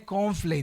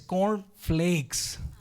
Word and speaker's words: Corn Flakes: el confl O sea no es cornflake decía yo es cornflakes o sea copos de maíz y ahora entiendo no